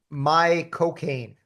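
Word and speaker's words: Michael Caine: And and what you have to do is say my cocaine. My coine. Yeah. My cocaine.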